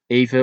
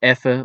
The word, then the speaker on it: even: The word even, pronounced as even or effe or ekkes in some regions, is often used to